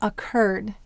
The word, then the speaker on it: occurred: How about occurred? Occurred. Where will we have the accent? Occurred. It's on the cur.